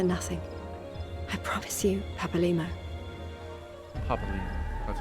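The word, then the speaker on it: Papalymo: Papalimo. That's how you pronounce it.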